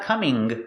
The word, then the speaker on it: coming: just that if I'm coming home from work link the sounds coming home coming home not coming there's no G sound coming home it's just